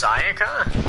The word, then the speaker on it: Sayaka: Oh, it's Sayaka? So okay, I guess I here's was the pronouncing it wrong.